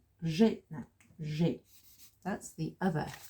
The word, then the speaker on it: j'ai: je, add the e, and it becomes j'ai. That's one syllable.